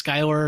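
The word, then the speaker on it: Schuyler: guy's name cuz I it's s c h u y l e r something like that. I was like I don't know how to say it. The internet says it's Skyler and you guys agreed we can call it that.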